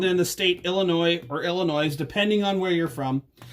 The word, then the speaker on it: Illinois: the state illinois or illinois depending on where you're from because there are people that don't live in illinois that don't know to not pronounce the s right that's true so